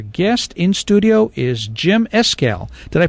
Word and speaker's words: Escalle: Veterans and our guest in studio is Jim escal did I pronounce it right Jim yes you sure did